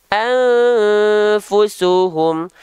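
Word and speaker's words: أنفسهم: itu apa cara bacanya samarkanlah bunyi nun mati atau tanwin hijau disertai dengung selama dua harakat dibacanya anfusuhum anfusuhum ah tinggal kita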